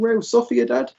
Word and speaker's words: Real Sociedad: real sophia dad yeah it kind of depends uh the kind of latin american pronunciation they kind of emphasize the seas more but if if it's a kind of spanish speaking it's generally the the sea like a sound so uh yeah or